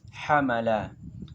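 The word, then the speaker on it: حَمَلَ: Nah, setelah melihat kamus, dapat kita membacanya yaitu menjadi hamala. Hamala merupakan wazan dari fi'il mujarad yang pertama tadi.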